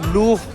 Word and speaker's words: Louvre: वक्त लब्रे म्यूजियम और लब्रो को फ्रेंच लैंग्वेज में लूफ प्रोनाउंस किया जाता है और ये